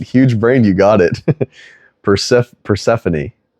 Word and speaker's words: Persephone: Persephone. Like Stephanie. Persephone.